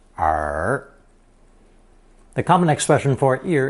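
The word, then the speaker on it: 耳: simply a stylized version of the human ear pronounced r the common expression for ear is adding the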